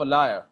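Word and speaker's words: Elia: अच्छा, इसको अगर आप पढ़ेंगे, जब सही जो एक्सेंट है उसमें अगर आप पढ़ेंगे तो इसकी आवाज जो है एसेज ऑफ अ लायर, ये लायर झूठा, ठीक है, एसेज ऑफ अ लायर, ये इस तरह इसकी प्रोनाउंसिएशन है जो रियल ब्रिटिश प्रोनाउंसिएशन है।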